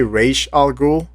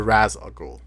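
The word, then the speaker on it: Ra's al Ghul: say, Ras Al Ghul, I'm used to say Raish Al Ghul because Raish Al Ghul was the ways they pronounced it in the Batman the Animated Series. So let us know in the comments below if you guys think it should be Raish Al Ghul or Raz Al Ghul.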